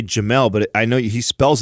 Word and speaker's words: Djamel: I heard her say Jamel, but I know he spells it DJAMEL. So DJAMEL. Maybe the D is silent.